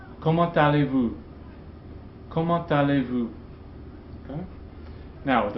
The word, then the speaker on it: Comment allez-vous: Remember, this T is usually silent, but it's pronounced in liaison here. That's an exception. Comment allez-vous?